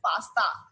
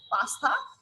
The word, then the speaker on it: pasta: You'll have to pronounce tha, not ta.